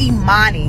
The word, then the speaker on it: Emani: be called imani and it's imani not even glad i cleared that up some of y'all be